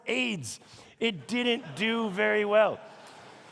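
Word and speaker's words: Ades: The name is pronounced AIDS.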